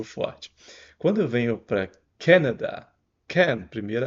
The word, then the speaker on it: Canada: a gente faz aqui Canada aqui é o can como a latinha de refrigerante Olha o sem vontade